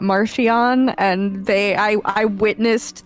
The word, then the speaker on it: Marchion: Don't worry about it, Marchion." It's Mark Hean.